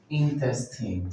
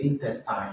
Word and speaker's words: intestine: So we have number six, which is intestine. So you don't say intestine, you say intestine.